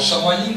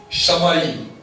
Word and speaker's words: Shamayim: Alors, Shamayim, c'est S-H-A-M-A-Y-I-M. Et c'est le Dieu des cieux. Shamayim, le Dieu des cieux.